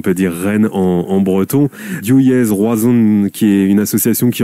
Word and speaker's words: Div Yezh Roazhon: Des Gamermat, vous êtes le président de Diouillez Roazhon, j'espère que je l'ai bien prononcé.